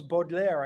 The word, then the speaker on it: Baudelaire: Charles Baudelaire, I believe you pronounce it as, today I felt pass over me a breath of wind from the wings of madness.